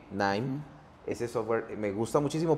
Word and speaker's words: KNIME: Por ejemplo, hay uno que se escribe KNIME, NIME.